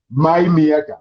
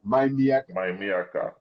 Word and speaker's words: MyMIYAKA: Did I pronounce it well? My Miyaka. My Miyaka. My Miyaka.